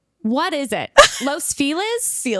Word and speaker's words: Los Feliz: saying Los Feliz? What is it? Los Feel is? Feel is, like Felix with a Z.